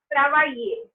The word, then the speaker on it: travailler: Also, double L is pronounced as year. Not always, but sometimes. For example, this one is travailler. Next one, fear, gentil, tranquille.